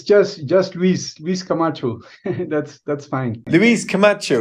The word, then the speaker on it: Luis: Louis, I'm just going to start by asking how much have I butchered your name. Okay. No, thank you very much. It's just just Luis Luis Kamacho.